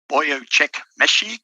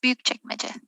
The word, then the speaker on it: Büyükçekmece: Actually pronounce it as Büyükçekmece.